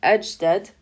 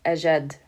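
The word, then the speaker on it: أجدّ: to put aleppom and instead of saying edge dead we're just going to say aged and we're going to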